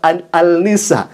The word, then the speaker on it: An-Nisa: Annisa ditulisnya seperti itu. Tapi harusnya dibacanya Annisa karena akan diketawakan ya ikhwah kalau misalkan dia mengatakan surah An-Nisa tidak kemudian dibaca Annisa.